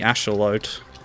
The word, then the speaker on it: axolotl: I'm thinking of the asholute which apparently is how you pronounce axolotl in its native Mexican oh come on well